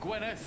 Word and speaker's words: Gwynedd: Philip of Gwynedd, Prior of Kingsbridge. Gwynedd，不是 D，没有这个 D 的发音。Sheriff Eustace。